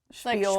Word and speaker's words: spiel: If you ever hear a word that's spelled with an S but is pronounced sh, spiel, like schwimmer, or like a schmuck or schmutz, it's us.